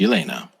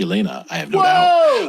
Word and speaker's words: Jelena: huh okay number two Elena is spelled with a J it's Jelena but it's pronounced Elena interesting Serbian thing but